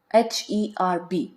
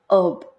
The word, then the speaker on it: herb: other examples would include h-e-r-b it's pronounced as herb H is silent here in American English while in British English